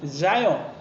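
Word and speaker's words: Zion: 영어로는 자이언, Z 발음, 자이언.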